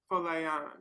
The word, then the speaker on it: Folayan: And then Folayan, like Fola, and then like Yan, um, which is Yoruba and means, I think, confidence or something like that.